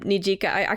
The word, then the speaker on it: Nijika: And this is actually such a sweet message from Nijika.